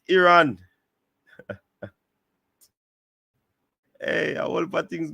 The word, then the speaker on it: Iran: the country's name wrong they call it iron but it is Iran hey I will put